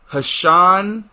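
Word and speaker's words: Ha'Sean: name is are you ready for this no hashon treyshawn clinton dicks okay it's spelled h a apostrophe sean t-r-e-s-h-o-n clinton dix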